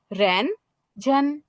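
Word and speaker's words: 认真: রেন, রেন, অর্থাৎ উপর থেকে নিচের দিকে নামতেছে টোনটা, রেন জেন, রেন জেন, রেন জেন। এটার উচ্চারণ কি? ফোর্থ টোন এবং first tone, রেন জেন, রেন জেন।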